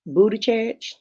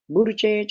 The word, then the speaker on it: Buttigieg: I think, James, I think she's going to pick Pete Buttigieg. Buttigieg, is that how you say his name?